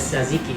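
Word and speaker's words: tzatziki: called satsiki and that is the original spelling here t-z-a-t-z-i-k-i that is saziki it's also called jajik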